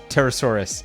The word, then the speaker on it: Pterosaurus: It's pronounced just the same as pterodactyl, just saurus. Pterosaurus instead of dactyl.